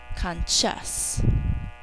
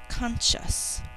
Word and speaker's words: conscious: Conscious. First syllable, k, a, n. Second syllable, sh.